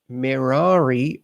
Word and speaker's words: Merari: Like the descendants of Aaron, Merari rhymes with hey.